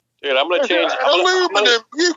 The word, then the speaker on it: aluminum: You call it aluminum.